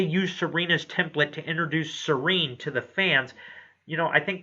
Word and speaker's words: Celine: Yes, it is spelled Celine, But in Japan, there is no differentiation from L's and R's in their language. So even though it's spelled Celine, it is pronounced Serene.